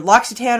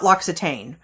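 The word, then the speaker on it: L'Occitane: it pronounced two ways I've heard it pronounced loyan and loxon so you can either go loyan or lockit but it's not loxitane so that sounds like some sort of like I don't know acne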